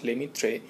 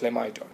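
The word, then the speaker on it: Lemaître: প্রথম ডিরাইভ করেন জর্জ লেমিত্রে বা উচ্চারণ ভেদে জর্জ লেমাইড ঠিক তার দু বছর পর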